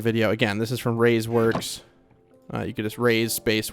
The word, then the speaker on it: Rays Works: again, this is from Rays Works. You can just Rays space Works. It is spelled exactly how it sounds. R-A-Y-S space W-O-R-K-S. Rays Works.